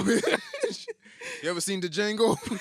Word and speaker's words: Django: You ever seen the Django? The D is silent.